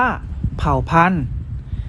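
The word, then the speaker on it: เผ่าพันธุ์: เหมือน เดิม นะ ครับ เรา จะ ไม่ ออก เสียง พยัญชนะ และ สระ ที่ มี เครื่อง หมาย ทัณฑฆาต กำกับ อยู่ นั่น เอง ครับ เช่น คำ ว่า เผ่า พันธุ์ อ่าน ว่า เผ่า พันธุ์ ศักดิ์สิทธิ์ อ่าน ว่า ศักดิ์สิทธิ์ อยู่ กาฬสินธุ์ อ่าน ว่า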